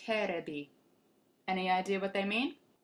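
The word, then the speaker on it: テレビ: These are katakana characters pronounced terebi.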